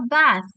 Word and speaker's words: bath: Lalu ada take a bath. Ingat ya teman-teman, kalau misalnya dalam suatu kalimat bahasa Inggris, ada TH itu lidahnya harus digigit ya.